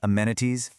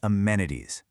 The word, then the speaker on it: amenities: It's not amenities, it's amenities.